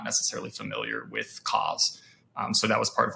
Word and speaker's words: COZ: now gotcha tell us a little bit about cause hopefully I pronounced that correctly yeah yeah you're you're good